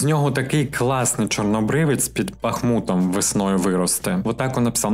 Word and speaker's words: Бахмут: Кстати, как-то я говорил про Бахмут, и мне поправили и сказали, что правильно говорить Бахмут. Нет, друзья, посмотрите Википедию, Бахмут. Даже когда президент Украины поздравлял новогоднюю ночь, я обратил внимание, когда он тоже так же ударение поставил Бахмут.